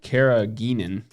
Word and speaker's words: carrageenan: Okay, so why carrageenan in the new it's part of the gum blend.